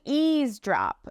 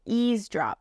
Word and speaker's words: eavesdrop: to ease drop now this word is spelled kind of funny but basically the E and A at the beginning of the word makes it a long e sound so it's going to say EAS drop ease drop when you're EAS